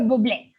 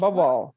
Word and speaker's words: Bublé: Bubble. Yeah. Bubble. No, but Was- this last name is French, you know? So yes. the No, pronunciation it's is well, Bublé.